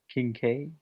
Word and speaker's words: Kincaid: Can you not pronounce things? Percival? William Percival Kincaid. Yes. Kincaid.